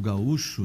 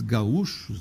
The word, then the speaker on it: gaúcho: Como se pronunciava? Gaúcho. Se pronunciava gaúcho, quando apareceu a palavra.